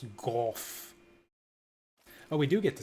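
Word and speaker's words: Gough: how go hunts dragons it's pronounced go oh we do get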